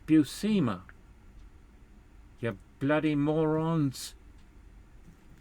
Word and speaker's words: Buscema: um there is a cell uh buscema cell busema as we heard it from tom defalco who